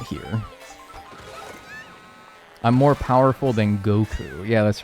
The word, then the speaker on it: Goku: I'm more powerful than Goku. Yeah, that's right. Gaku. Oh no. What if I start saying that? Uh you guys know how I like deliberately mispronounce things sometimes. What if I call him Gaku?